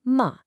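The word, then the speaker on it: 馬: Next up, we have ma, pronounced ma, and it means horse.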